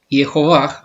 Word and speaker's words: Jehová: Que muy bien, según bien enseñó el rabino Maimónides, se puede pronunciar como Jehová, aunque ese nunca se